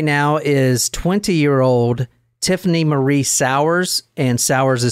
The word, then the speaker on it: Souers: looking at right now is 20-year-old Tiffany re sour and sour is spelled s o u e RS I've heard